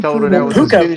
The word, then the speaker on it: Puka: How do you pronounce his first name? P U ca puka.